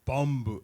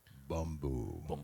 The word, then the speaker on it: Bumbu: So versus Bumbu. I'm sorry, I didn't say it right. Bumbu. You got it. No, like get it in your throat. Get it in your throat. No, more throat.